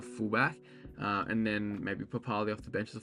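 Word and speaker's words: Papalii: iongi and um Josh papali I know it's spelled papal but pretty sure he wants to be pronounced uh papali so yeah I like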